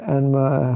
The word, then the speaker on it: Enma: The Japanese adopted these characters but pronounced them as enma.